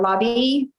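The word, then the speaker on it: LABI: vaccination mandate and uh lobby which is how you pronounce louisiana association for business and industry convinced the legislature that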